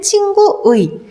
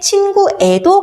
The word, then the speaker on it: 친구의: 조사일 경우에는 애로 발음할 수도 있다라고 얘기했죠. 그래서 기본 원칙은 친구의, 조사이기 때문에 친구애도 가능하다 이런 내용이었습니다.